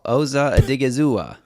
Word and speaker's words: Osa Odighizuwa: Osa Odighizuwa.